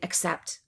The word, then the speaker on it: accept: Because it's rushed or reduced, the vowel is so short that we can't hear a difference between accept and accept.